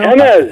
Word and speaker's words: Jemez: Jemez.